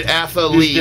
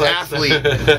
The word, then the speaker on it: athlete: So, you know that the word athlete is not really a word athlete, it's athlete. But, because you needed three syllables, you decided, I'm Gary Holt, and I'm throwing it anyway, I don't care.